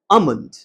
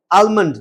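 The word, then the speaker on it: almond: কোনদিন বলতো Bombay ice cream one ডে, অন the next বলতো দিল্লি আমন্ড। এখানে কিন্তু মাথায় রাখবে উচ্চারণটা হবে আমন্ড, আলমন্ড নয়।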